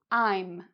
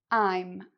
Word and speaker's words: I'm: "I'm", "I'm". If it helps you to remember, it rhymes with "time". "Time", "I'm".